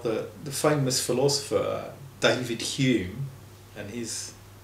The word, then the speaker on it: Hume: And that is pronounced in Scotland, Hume.